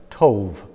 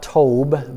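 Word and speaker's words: טוב: land or the the land of tove pronounced it as tove literally in the Hebrew that's what it is tove not told but tove and the English that's that's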